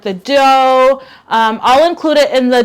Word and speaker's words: Doux: The Dough is at Target. It's spelled DOUX.